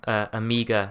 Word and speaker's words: Omega: word is Omega, but the accent, the New Zealand accent, goes for Amiga sort of pronunciation.